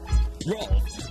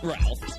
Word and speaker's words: Rolf: Rolf. My name is pronounced Rolf the Wolf, not Ralph.